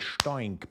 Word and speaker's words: STOINC: I love to pronounce it STOINC, by the way.